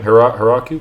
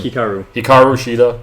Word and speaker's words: Hikaru Shida: Hiraku? How do you say her name? Hikaru Shida.